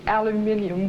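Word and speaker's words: aluminium: And on the front, my drinking water in the aluminum bottle. I've learned to say it properly. It is aluminum, yes.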